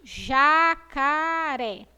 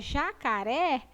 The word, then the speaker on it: jacaré: falar todo mundo junto, jacaré, ela é acentuada com acento agudo e ela tem um som, o quê? Aberto. Quando eu pronuncio a palavra jacaré, eu abro a minha boca, jacaré.